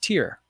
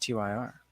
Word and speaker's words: TYR: the information i need tyr is pronounced tier i had no idea i thought it was just tyr the swim cap i